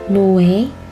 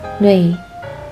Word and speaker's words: 뇌: 뇌, not 노예, it's 뇌, 뇌.